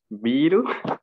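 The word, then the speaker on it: ビール: A ver, se han inspirado de la palabra beer, pero claramente no lo podrían pronunciar en Japón. Biru.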